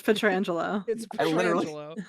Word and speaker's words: Petrangelo: petrangelo does patang stop I have Google up right now it says how to pronounce it and I listen to that right before I said it and that's what Google said it's incred wrong 100% according to google anyway I'm telling you it's petrangelo I literally have it